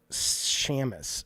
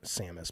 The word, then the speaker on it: Samus: Mario and Zelda and Shamus I know it's Sam Samus but it's spell it's